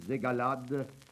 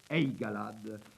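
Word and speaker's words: Aygalades: visage le village des agalades je crois qu'il faut prononcer eigalad est à 6 km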